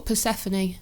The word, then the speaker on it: Persephone: Well, can you pronounce it for me? It's Persephone? Oh, Persephone.